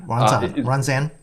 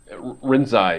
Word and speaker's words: Rinzai: What's the first one? Ranzan? Rinzai. Is it Rinzai?